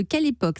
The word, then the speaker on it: Kelepoq: êtes la cofondatrice de quelle époque ça s'écrit ke l epo cul tout à fait qu'à